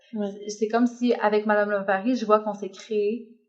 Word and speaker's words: L'Ovary: Parce qu'en fait, il faut préciser que ça s'écrit L''OVARY, oui, pas tout attaché. Oui. En fait, Madame Lavary, ça vient de 3 choses. Ça vient de love, your ovary, donc love ovary.